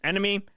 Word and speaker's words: ENMY: Yeah, Enemy. If you were ever a fan of Cell Dweller, Blue Stolly stuff, go check them out. They're pretty fucking good. And it's spelled E-N. It's ENMY.